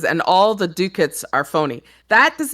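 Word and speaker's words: doocot: It says he says, "And all the dookits are phony." That does not that should not be pronounced dookits, but that's how it's pronounced.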